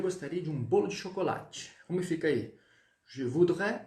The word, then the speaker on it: chocolat: Aí, Marvel, ele tira só o E do chocolate, tá bom? Porque esse esse substantivo ele é masculino. Então, ó, chocolat, lá. Eu termino no lá, não pronuncio o T.